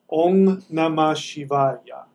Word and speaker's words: Om Namah Shivaya: spell it for you that M is actually an NG sound um namah shivay om namah Shivaya om namah shivaya om